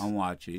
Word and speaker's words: Onwuachi: Again, the book, Notes from a Young Black Chef, Kwame, and make sure I pronounce it right. Yes. Onwuachi, right? Onwuachi, there you go.